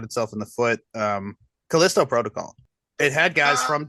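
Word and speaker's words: Callisto: Well, I mean, Kaliscoco Protocol is a spiritual successor. One more time. Kaliscoco Protocol is a Kalisto.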